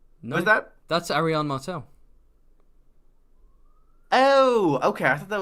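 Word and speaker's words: Arianne Martell: tyana no how how the hell do you pronounce that that's Arion Martel oh okay I thought that was uh you're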